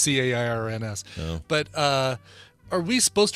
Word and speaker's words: Cairns: in that foreign tongue, like that city in Northern Australia, Cairn. Mm-hmm. Which we'd all call Cans or something like that. Sure. Or Karens. I think it's Karens. We pronounce it Karens, Cairns.